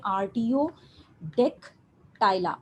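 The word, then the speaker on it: Artiodactyla: पास आर्ट डिक्टा इला इसको हम प्रोनाउंस कैसे करेंगे RTO deck टायला RTO Dick टायला आर्टियो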